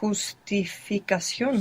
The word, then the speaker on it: justificación: Is it a h sound? Good. Yes. If it's je, So it's justificación.